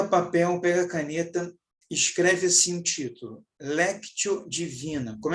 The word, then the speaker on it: lectio: pega papel pega a caneta escreve esse sentido léptio divina como é que escreve isso Renato ele é C mudo t e o do lado se escreve Divino lectio Divina leitura Orante que significa então a